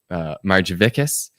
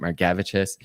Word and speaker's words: Margevicius: All of my family pronounces my last name Margevicius. And I met a Lithuanian several years ago, and they told me that they pronounce it Margevicius. And so I've started pronouncing it Margevicius.